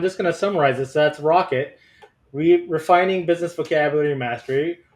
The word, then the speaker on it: ROCK.IT: Tech stakeholders I I like that it is pronounced rocket as well because I